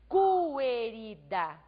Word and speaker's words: querida: Observem vocês que eu não pronuncio querida. Vejam que eu escrevo o Q e o U, mas a letra U não é pronunciada.